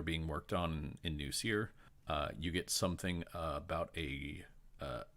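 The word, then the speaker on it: Cyre: He also pronounces Seer as Siri, and I fucking hate that, so it's Seer.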